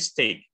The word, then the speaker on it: steak: Sama satu lagi steak. Kalau pernah makan beef, daging sapi, beef steak. Enggak beef steak ya. Beef steak. Itu tulisannya pakai E, bacanya A. Bunyinya A, long A.